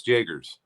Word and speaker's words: Jagers: How did you pronounce her name? Jagers, right? Yes, Jagers. Jagers, yeah.